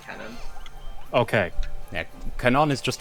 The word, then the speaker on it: canon: It's pronounced canon.